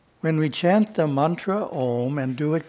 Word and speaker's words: om: and do it correctly we pronounce the a so that it vibrates the physical body the ooh has to vibrate through the throat area and the M the head in doing this we are